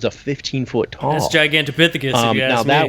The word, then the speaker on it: Gigantopithecus: Well, I think, wasn't it Gigantopithecus? Thank you, Gigantopithecus. Say it, say it right now. Gigantopithecus.